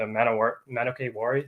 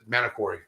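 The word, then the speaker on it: Manokwari: And dude, when I was working on your snake, the Manokay Wari, is that how you say it? The Manokori.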